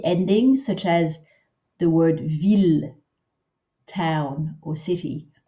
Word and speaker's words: ville: Those ones are pronounced not as an I-L-L sound, but just as an L sound. So ville and mille, keep pronouncing them the easy way with an L, but here we're working on that, this sound.